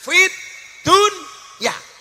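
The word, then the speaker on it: فِي الدُّنْيَا: rbana Atina Fid Dunya Fid Dunya itu sebenarnya bukan bacaan idhar tapi idgham harusnya bacanya bagaimana fidunya tapi ternyata oleh ulama Disuruh membaca secara zhar jelas Fid Dunya Kenapa urusan dunia harus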